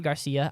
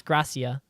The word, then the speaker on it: Gracia: That is definitely not Garcia. I double-checked it. It's not a typo. It's Gracia, I think, is how it's pronounced.